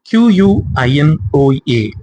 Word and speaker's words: quinoa: Q-U-I-N-O-A. இது எப்படி pronounce பண்ணணும் அப்படின்னா quinoa.